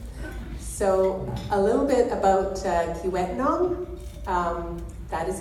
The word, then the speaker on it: Kiiwetinoong: and for that so a little bit about Vietnam that is how you pronounce it and it is one of the